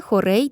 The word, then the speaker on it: хорей: Віршові розміри, в основі яких лежать двоскладові стопи - це хорей та ямб. Хорей - двоскладова стопа з наголосом на першому складі.